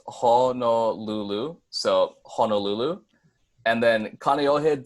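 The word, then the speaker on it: Kāneʻohe: so Honolulu and then Canio head does have a break in it there is a no kina in the word so I believe it's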